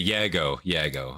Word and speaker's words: Yago: Like, how do you pronounce it? You know? Yeah, it's okay. Yago.